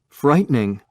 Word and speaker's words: frightening: frightening این ای دیگه تلفظ نمیشه.